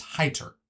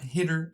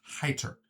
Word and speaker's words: Hyder: And it's Hyder. There's no L. It's Hyter. Not hitter. It's Hyter.